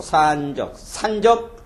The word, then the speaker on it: 산적: 발음이 길어갖고 산적.